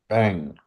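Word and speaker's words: bem: Trick trick your brain because when you look at the words you want to go, oh to put that m in there to do bang bang to do bang.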